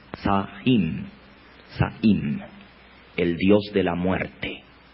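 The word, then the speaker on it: Samhain: pronuncia están bien si no se que se pronuncia y sahin el dios de la muerte se escribe están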